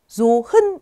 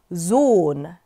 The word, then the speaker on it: Sohn: 이 하 같은 경우는요. 모음 다음에 위치할 때는 발음이 나지 않아요. 묵음 처리가 되는데 그 앞에 있는 모음을 길게 발음한다고 생각하시면 됩니다. 예시 단어 보시면요. 아들이라는 단어가 있어요. 자, 이 단어를 읽으실 때 Sohn 이렇게 읽지 않고요. Sohn 이렇게 길게 읽어주시면 됩니다.